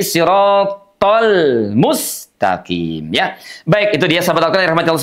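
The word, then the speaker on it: صِرَاطَ الْمُسْتَقِيمَ: Jadi, tholmu itu huruf lamnya dibaca dengan suara mengalir walaupun tidak sebenarnya mengalir karena huruf lam itu sifatnya tawassut. Ah, bainiah antara dijeda dengan mengalir ya. Tidak siratal mus. Ah, tapi siratal mustaqim.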